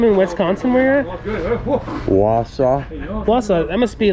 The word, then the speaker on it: Wausau: need that is awesome um how do you pronounce the name in wisconsin where you're at wausau that must be like a native name huh